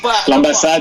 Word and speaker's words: L'Ambassade: which was absolutely the L'Ambassade, yes. L'Ambassade, I always say it wrong. L'Ambassade, and he was Ambassade, yes, Ambassade. It's in Lyon. The French, yes, French word for embassy.